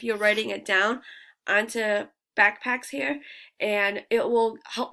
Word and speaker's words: Bakpax: It's called Backpacks. It's spelled BAKPAX.